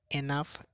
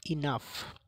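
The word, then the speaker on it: enough: 3 নম্বর শব্দটি আছে এনাফ, এটা আমরা ভুল উচ্চারণ করি, এটা সঠিক উচ্চারণ হবে ইনাফ।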